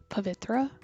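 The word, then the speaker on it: Pavithra: My name is pronounced Pavitra with an invisible H that doesn't exist apparently.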